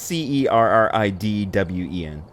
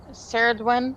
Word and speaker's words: Cerridwen: the cauldron is associated with the goddess can't pronounce this. Pull it out. Yeah, it's Cerridwen. Cerridwen. Okay, yeah, it's good enough. Well, the goddess Cerridwen, not to be confused with NyQuil daytime.